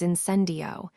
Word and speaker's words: Incendio: Professor Sprout told us the spell's pronunciation is incendio, and the wand movement is as if you were drawing a flame.